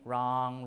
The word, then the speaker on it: wrong: still there okay finally the W before R is lost as in wrong wrinkle wrist uh ring and